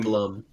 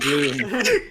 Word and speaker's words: Blum: Wait. No. Blum. Sorry, not Bloom. In order for it to be in order be for it to be pronounced Bloomhouse, I think it would have to have the um lot over the U. that or the e at the end because that's also